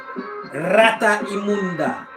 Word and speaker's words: rata inmunda: And they've got a problem with pronouncing the M and the N. I don't know if it was him or if it's Cubans in general, but it's supposed to be rata imunda, but he said rata inunda.